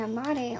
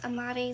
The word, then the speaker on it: amarre: Some of y'all have an amare on you. Yes, I speak Spanish, but I cannot roll my R's. What I'm talking about is spelled Amarre. It means to tie in Spanish.